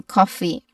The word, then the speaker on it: coffee: Following that is the letter F sound, which has both F's in coffee. Together make just one F sound. We don't pronounce two distinct letter F sounds, okay?